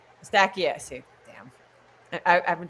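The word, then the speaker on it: Eustáquio: Estakio.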